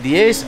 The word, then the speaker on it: diez: And I think we spell it D-I-E-Z. D-I-E-Z. Yes. That's correct. Okay. She pronounced it diez, I pronounce it diez. I think every other Spanish speaker in the world pronounces it diez.